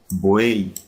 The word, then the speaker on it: buey: Porque la Y no se pronuncia como en yate o en yegua, ¿verdad? Sino que se pronuncia como I latina. Buey, camagüey.